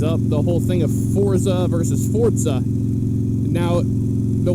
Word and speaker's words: Forza: the whole thing of Forza versus fourth side now the way it's pronounced the Sforza with a T sound to it the devs themselves will